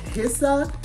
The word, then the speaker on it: Hsia: sponsored by a company called hissa I believe that's how it's pronounced um h-s-i-a and I'll have the website information